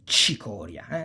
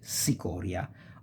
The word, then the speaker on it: cicoria: It can be quite bitter, and it's called cicoria. Don't make the mistake of pronouncing it cicoria or cicogna. No, c plus I, ci.